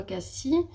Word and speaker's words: Cassis: Ça s'écrit Cassis, mais dans le sud on dit Cassis, apparemment. Moi j'ai toujours dit Cassis. Des fois j'ai dit Cassis parce que j'avais un doute, mais c'est vraiment Cassis.